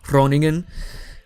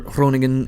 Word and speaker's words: Groningen: the way over to, I suppose it's pronounced Groningen. That's Dutch for y'all asses. We're gonna land near Groningen and attempt to take it.